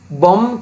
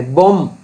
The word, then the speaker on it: bomb: උදාහරණයක් මේ වචනේ උච්චාරණය කරද්දී bomb කියලා කියන්නේ bomb. එතකොට silent letter එක මේ last B අන්තිම B එක silent.